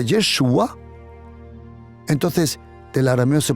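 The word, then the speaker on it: ישוע: su nombre yeshua en hebreo o mejor dicho yeshua porque así se pronuncia yeshua es un diminutivo creo que se dice en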